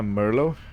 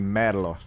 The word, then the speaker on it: Merlo: this uh machine and it's not a Merlo Merlo would be American or British uh it's actually mlo so the founder of